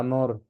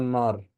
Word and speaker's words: نور: نور نور نور دي بقى فيها ضم ضم الان نطقها او زي ما اهي نور نور ما ينفعش اقول نر ما ينفعش اقول نر